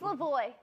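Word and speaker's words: Levoit: go on please how do you want to pronounce this it's Lavoy Lavoy yeah yeah boy air purifier I bought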